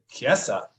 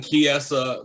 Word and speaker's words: Chiesa: Oh, the H is silent. Yeah, it's like Dierte. It's fancy. It's fancier. So it's like Chiesa.